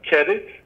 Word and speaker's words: Qedit: It's pronounced qedit. Qedit, yes. I thought so. Good. It's a little bit like Reddit.